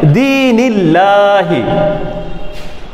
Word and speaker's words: আল্লাহ: পড়লে ভুল হয়ে যাবে, এখানে আমাদেরকে পাতলা করে পড়তে হবে, যেহেতু আল্লাহ শব্দের ডানে জের এসেছে এই জন্য আমাদেরকে পড়তে হবে দীনিল্লাহি।